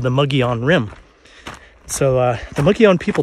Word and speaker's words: Mogollon: Mogollon is spelled M-O-G-O-L-L-O-N. It's pronounced Mogollon.